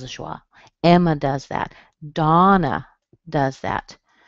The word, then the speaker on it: Donna: Donna does that. The O in Donna usually sounds like ah, as in father.